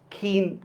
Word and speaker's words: ক্ষীণ: ক্ষীয় এটা শব্দের শুরুতে উচ্চারণ হলে কি হবে? ক্ষীণ, ক্ষয়িষ্ণু, দেখছেন খর মতো উচ্চারণ হয়।